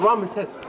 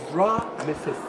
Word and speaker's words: Ramses: Name Ramses, it is not Ramses. No, it is Ramses. Again, Ra, sun god. Mes means child. S means of. Child of Ra.